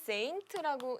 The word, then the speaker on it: Saint: 자, 요거는 Saint라고 읽고요.